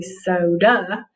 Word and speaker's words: soda: but it doesn't when we have that a at the end of the syllable in the last syllable of a word it usually says uh in the last syllable of a multi-syllable word so this word is actually soda so instead of marking it with the long vowel marking we're going to mark it with the schwa okay sometimes you have